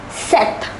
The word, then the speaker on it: sept: Number 7 is set, set.